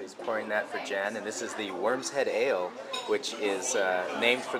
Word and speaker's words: Worm's Head: The say again the name, the pronunciation? It's the Worm's Head.